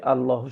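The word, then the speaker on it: الله: এটা হচ্ছে আল্লাহু শব্দ।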